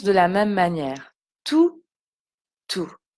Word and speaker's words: tous: enfants aiment les vacances tous les enfants aiment les vacances vous voyez le s on ne l'entend pas tous les enfants aiment